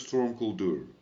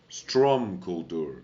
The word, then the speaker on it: Strom Kuldur: secure the rest of Storm Kuldur. Strom Kuldur. I've been saying it wrong this whole time.